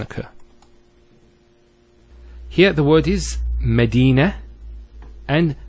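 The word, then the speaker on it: مدينة: I actually pronounced the ta marbota as a ha. Medina, Khadija. Now if I stop on the ta marbota, it's actually pronounced as a ha in both cases.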